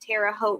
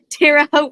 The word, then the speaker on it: Terre Haute: You're getting a lot of comments just letting your old Texas ass know that Terre Haute rhymes with goat. Oh, I don't think so. Terre Haute rhymes with goat, mama.